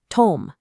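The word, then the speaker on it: תֹּם: Section 5, Tome, the nature of men. This is the exact point where biology, cryptography, and linguistics completely merge into absolute ethical completeness. The concept of tome, pronounced tom, under Strong's 8537, this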